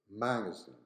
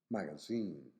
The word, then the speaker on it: magazine: on a different syllable this work is stressed on the first syllable magazine magazine in America but on the last one in British magazine magazine so in here we